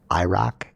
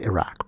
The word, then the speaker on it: Iraq: heard so many politicians call it iraq it's iraq bro like if you listen to somebody from there they say iraq nobody says that yeah